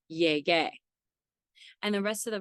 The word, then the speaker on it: llegué: And this is because a G before an E or an I makes a H sound, and because the ending for AR verbs in the yo form is A, we have to maintain that G sound, so we add the U, which is silent, so it's llegué.